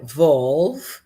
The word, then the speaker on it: valve: E a pronúncia. Então aqui só enfatizando é volve, válvula e a segunda significa valor, right?